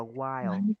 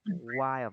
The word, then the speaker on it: while: Đúng rồi, mình sẽ đọc là while, while và mình sẽ cong lưỡi While. chữ L nhẹ thôi và mình While. đọc cái âm I á, mình đọc While. kéo dài hơn một chút.